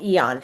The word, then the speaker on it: Aeon: well, which is called Eon. And the Eon patch is AEON. The A is silent, but these two patches together work really well.